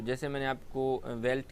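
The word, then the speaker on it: veld: आप इसको डी को देख के परेशान नहीं हो जाएगा, ये वेल्ड नहीं है, इसका प्रोनाउंसिएशन है वेल्ट।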